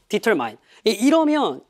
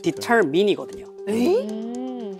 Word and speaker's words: determine: Determine. 이러면 얘는 듣기에서 이 단어가 나왔을 때 못 들어요. 왜? 왜냐면 이 단어의 발음은 determine이거든요. determine이 아니에요.